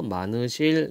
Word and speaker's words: 많으실: 분이 많으실 텐데요 많으실 요때 히읗이 빠져버려요 그래서 많으실 요렇게 발음이 됩니다 많으실 텐데요 다만 벽틀